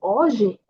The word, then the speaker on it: hoje: Logo, aqui está bem mais quando temos uma J, também a pronúncia vai ser como uma já, je, ji, jojo. Então, vai ser hoje.